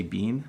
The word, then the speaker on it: been: at the end and the second one is either bin or bean when I say bean